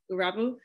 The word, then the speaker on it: Erabu: It's pronounced Erabu. Erabu?